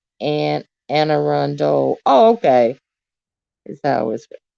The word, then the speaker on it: Anne Arundel: get your next next best version oh it's pronounced and anne arundel oh okay is that always pronounced okay and